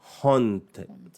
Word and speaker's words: haunted: Haunted. Dia macam ejaan hantu yang diterbalik sikit kan, haunt ni.